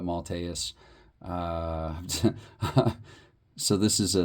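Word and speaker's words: Maltais: Steve malas Steve malus I think actually now I'm even remembering how it was pronounced it was a three of course different announcers pronounce names differently but malus uh so this is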